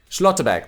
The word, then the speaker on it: Schlotterbeck: Schlotterbeck, that's how you pronounce it.